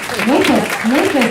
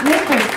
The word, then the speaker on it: Nefas: His name is Ira Nefas. That's Nefas, I said it right, Nefas.